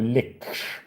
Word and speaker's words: lich: the lich. Yeah. Or lick depending on how you prefer to pronounce it.